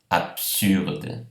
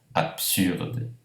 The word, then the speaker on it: absurde: Absurde, vejam que a pronúncia é PS, não BS. Absurde.